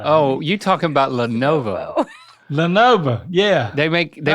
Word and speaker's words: Lenovo: Leano L E I don't know. Oh, you're talking about Lenovo.